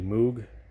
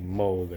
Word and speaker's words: Moog: So an Andy Moog certified red, or Andy Moog, I should say. That's Moog is how it's spelled.